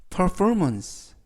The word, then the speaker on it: performance: 해낼 수 있도록를 부여라는 뜻이 되겠습니다 이번 표현은 Performance Performance Performance라고 발음하시면 되겠고요 이때 단어가 길어서 강세를 알려 드리면